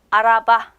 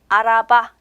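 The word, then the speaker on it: araba: 명사가 있습니다 자동차 자요 자동차는 터키어로 알아봐 알아봐 이렇게 발음이 되거든요 차 근데요 자동차는 명사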